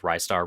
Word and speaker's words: Ristar: uh, cuz you know, everybody says it said Rystar, wristar. Um, the runner, his name was Mackie. He said that even Sega employees don't know how it's pronounced. Um because the katakana is actually different. Uh so it's it could be either way, but I think a lot of people thought rising star, it's ry star, but I always thought